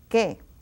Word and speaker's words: que: Now the QU, it's another of those rules that you don't pronounce the U. It is silent. Que, what, or which, que.